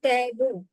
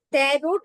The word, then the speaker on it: tarot: শেষে আমরা গিয়ে কিন্তু ট্যারো অর্থাৎ ট্যারোট বলছি না তেরো বলছি তিন সাইলেন্ট থাকে তো 13 কথাটা এসেছে